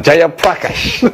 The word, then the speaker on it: Jayaprakash: Jayaprakash. I learned that all night. I was like, what's this name pronounced like?